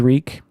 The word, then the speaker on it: Reek: freak my name is reek at rhymes with freak during the wedding between